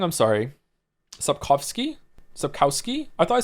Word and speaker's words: Sapkowski: Pronouncing Sapkowski with a W sound kills me. Did I say it wrong? I'm sorry. Sapkowski?